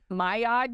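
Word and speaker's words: Maillard: and thinking it's like I've always thought it's like mad it's mayard you said it helps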